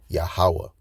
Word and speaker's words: Yahawah: Again, Jehovah is an English rendering of YHW, but the correct Hebrew pronunciation is Yahawah.